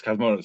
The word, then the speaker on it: Cosmatos: Yes, Cosmatos.